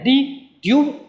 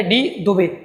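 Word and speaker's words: de Duve: इनके स्पेलिंग ये है, तो इसको या तो मैं ड्यूब पढ़ दूं तो ठीक है, या फिर दुबे पढ़ दूं तो भी ठीक है।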